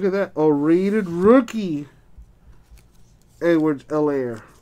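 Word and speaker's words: Edwards-Helaire: that oh raided rookie edwards l air the h is silent by the way mccaffrey insert eason colts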